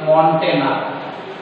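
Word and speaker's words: Montagnier: तांकर ना हला लॉक मॉन्टेनर बोले उच्चारण करा होची मॉन्टेनर तो लिखि दूची प्रोनाउंसिएशन हला मॉन्टेनर लॉक मॉन्टेनर डिस्कवर्ड HIV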